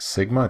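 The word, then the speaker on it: σ: mu this is our population standard deviation it's pronounced Sigma two lowercase Sigma hey those are population parameters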